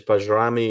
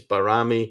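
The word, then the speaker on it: Bajrami: barami as well because people have said it's bami it's barami yeah know I mean can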